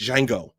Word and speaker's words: Django: He says the D is silent, so it's Django Unchained.